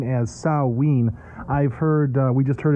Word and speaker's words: Samhain: now you met you pronounce this name as saw ween I've heard we just heard in church last Sunday the youth pastor was saying Sam Hayne um is this all the same thing it's just different pronunciations um yes Mark in fact just spent